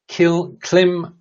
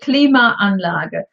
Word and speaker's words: Klimaanlage: So it's Klima, which is the first part, and Anlage, which is the second part.